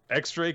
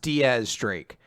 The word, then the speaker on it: X Drake: than ever yep the fight's going on uh x drake is there and everyone loves him i had somebody really angry because they're like it's not pronounced x-drake it's pronounced diaz streak and i had to look it up apparently